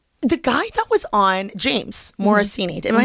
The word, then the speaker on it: James Morosini: The guy that was on James Morosini. Am I saying it correctly? Yeah, you okay. James Morosini he was on Sex Lives of College Girls.